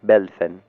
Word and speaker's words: Welfen: proviene el término güelfo, aunque en alemán se pronuncie Welfen, y a la Casa de los Hohenstaufen de Suabia, señores del castillo de Waivingen, de ahí la palabra gibelino.